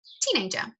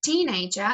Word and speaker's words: teenager: So sometimes there is a stress on the a phone name. So instead of teenager it becomes teenager.